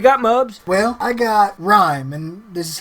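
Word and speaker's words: Rime: Well, I got Rhyme, and this is how it's spelled, R-I-M-E.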